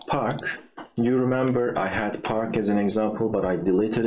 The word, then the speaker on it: parka: That para, that's wrong. So it's parka.